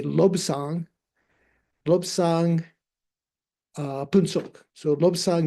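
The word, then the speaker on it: Lobsang: But if together uh the nasal sound of the B goes onto the first syllable. So you say lobang.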